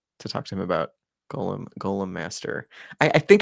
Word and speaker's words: Golem: I need to reach out to TJ because he was talking about what kind of uh Gollum I'm saying it wrong, aren't I? Golem. Golem.